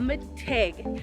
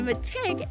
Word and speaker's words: mitig: bike with your family behind me is a mategue and a metig is the ojibwe word for tree and that's spelled m-i-t-i-g so the cool thing about trees